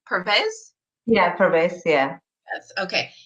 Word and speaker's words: Pervez: how do you say your last name purpose yeah promise you that's okay Pervez is going to be teaching you about how